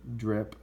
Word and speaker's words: DRIP: It's a dividend reinvestment plan, DRP, but pronounced DRPI as in DRIP.